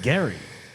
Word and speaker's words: Gerry: he pronounces it Gary. Oh, he does? No, Yeah. he doesn't. It's got a J, Gary.